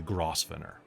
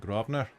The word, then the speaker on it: Grosvenor: Hotel the Grosvenor and for you it's the grossfinner because there's no way that you would get that word from that gross Center uh the buggers pronounce it Grosvenor ah it's a weird